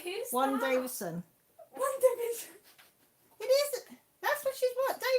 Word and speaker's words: WandaVision: Oh, WandaVision. Oh, sorry, Mel. You said Warren Davison. Did I? Is that what I said? Yeah. Oh, sorry, I no. was like, who's Warren that? Davison. WandaVision.